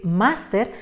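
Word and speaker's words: máster: en el caso de la palabra master dos sílabas terminen r la pronunciación no nos convence al ser palabra del grupo de la equis y como esperamos master pues nos vemos en la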